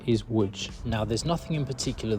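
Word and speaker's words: Łódź: you're probably looking at the spelling thinking that's pronounced Lots not wood but the correct pronunciation is wood now there's nothing in particular that's really wrong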